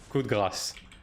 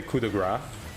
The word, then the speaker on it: coup de grâce: Like English-speaking people tend to say coup de grace, which is incorrect. It's coup de grâce with a s at the end.